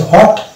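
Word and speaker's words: what: এখানে W silent হয়ে যাবে এবং এই যে উচ্চারণ হবে দিয়ে হবে এটা হচ্ছে হোয়াট অনুরূপ হবে এটা হচ্ছে হু হুইচ হোয়েন হোয়েন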